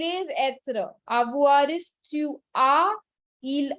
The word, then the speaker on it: tu as: Avoir is tu as, il a, elle a. So remember the pronunciation, okay? J'ai, tu as, il a, elle a, nous avons, vous avez, ils ont, elles ont.